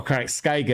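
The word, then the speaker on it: Karak Skygg: When I was doing our version of LAWhammer, for example, there's a hold in that Carrick Skug, or Carrick Skyga, as some prefer to pronounce it.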